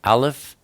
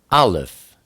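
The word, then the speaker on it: alef: the first oat is Alf it is also the number one it is pronounced when you see it as a letter it's pronounced ah like AB or E like Elohim it's the picture of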